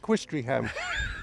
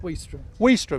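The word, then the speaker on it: Ouistreham: very well because I've been calling it Quist ham so how' you say it w wam there you go W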